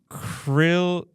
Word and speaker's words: chrysalism: This one's pronounced chrysalism. Okay. So CHRYSALISM.